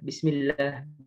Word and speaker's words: bismillah: kali kita membaca Bismillah kita bacanya bismillah bismillah bismillah ilah otot salah ya yang benar bismillah kayak gitu kemudian sifat